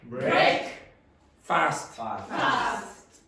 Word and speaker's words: breakfast: Now usually you don't actually say fast, you say breakfast. Breakfast. Which? Breakfast. No, breakfast. I said it. Hey, don't you get smart with me now, boy, in your second last day. Okay? Don't embarrass yourself in front of mommy and daddy. Okay? Breakfast. Now, what's happening there is one of those syllables is not very strong.